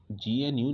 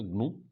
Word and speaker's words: GNU: पहले तो इसको GNU नहीं, प्रोनाउंसिएशन इसका GNU नहीं होगा, प्रोनाउंसिएशन जो होगा इसको ग्नू होगा। Wait a minute, now यू can easily C on screen, या इट is pronounced as ग्नू।